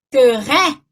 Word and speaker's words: très: Que ele vai abrir o som, então vai ficar très, né? Que é o caso de très, ó, res, né?